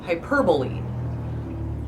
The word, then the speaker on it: hyperbole: my head it is I try when I say it out loud to say it correctly which is hyperbole but no it's hyperbole